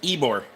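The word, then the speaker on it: Ybor: So, a suburb of Tampa spelled y B O R pronounced Eore.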